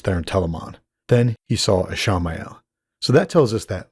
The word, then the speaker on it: Ishamael: I am going to call him Ishamael, since that's his name in the books, and I like putting the proper emphasis on the extra syllable.